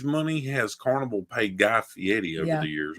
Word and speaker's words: Fieri: has Carnival paid Guy Fieri over the years? Or Ferrari, it's Fieri, you said it right.